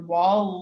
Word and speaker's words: WAL: right ahead logging or as it's verbally pronounced the wall files this is where the